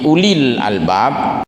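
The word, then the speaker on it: أولي الألباب: rasa most money I Wow pulih tapi Wow itu tidak berfungsi secara bacaan hanya secara kita bahas secara tulisan saja Ulil Albab jadi tidak dibaca panjang = Ula ikhlas uh itu ada Wow di depan itu tidak dibaca wownya tidak dipanjangkan karena ini rasamu Usmani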